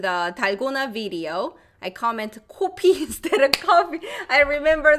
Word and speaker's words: 코피: Your lips should be rounded. 코피, 코피, 코피. Okay. Coffee, coffee. 코, 커, 코, 커. Coffee, 코피. Oh, 코피나. You have nose blood. Oh, so that should be O. Okay, rounded. And coffee is not rounded.